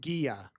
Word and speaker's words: Gia: Gia, pronounced with a G like in the word goddess. So Gaia and the and Gia. Gia from Sweden. Gia.